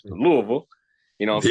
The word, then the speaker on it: Louisville: Some people say Lewisville or Louisville. It's Louisville.